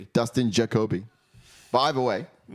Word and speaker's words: Dustin Jacoby: like sort of yeah you've got his name wrong every time dust into Kobe you said Justin uh Justin Jacoby Dustin Jacoby by the way